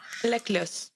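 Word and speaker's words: Laclos: La Clos. La Clos El puede ser autor. la Clos, aunque dudo la verdad que la S se pronuncie. Normalmente en francés la última S no siempre se pronuncia, pero tal vez en nombre Yo lo sí.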